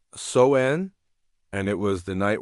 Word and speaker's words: Samhain: They called it sen, pronounced soen, and it was the night when the boundaries between the living and the dead dissolved like morning mist.